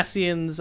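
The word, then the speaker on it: Ascian: That's how it's pronounced, but it's got a C in it. Yeah, asens are the um the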